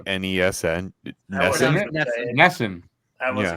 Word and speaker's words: NESN: really good episode did you just say NESN Ness I was G okay I'm Canan Canadian I